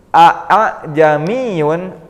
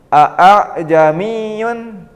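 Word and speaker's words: ءَأَعْجَمِيٌّ: yang kurang tepat misalkan Apakah membacanya aamiun itu kurang pas kemudian Apakah dipanjangkan alifnya dibaca panjang seperti Mad jamiun itu kurang tepat juga cara membaca tashil ini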